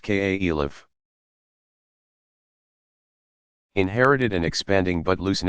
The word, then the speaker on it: caliph: you Mohamed's immediate successors called caliphs pronounced ka Elif inherited and expanding but